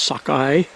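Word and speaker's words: Sukoi: see the sockeye islands it's not spelled sockeye but it's pronounced sockeye it's spelled su ko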